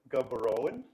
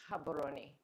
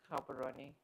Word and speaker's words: Gaborone: So can you have how do you pronounce that? Is it Gabberon? Habaroni. Oh my god. That's too far. Sorry. But thank you for pronouncing it. Gabon is fine. Most foreigners would would say Gabberon.